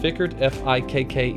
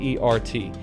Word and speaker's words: Fikkert: This is by Steve Corbett and Brian, I believe it's pronounced Fickert, Fikkert.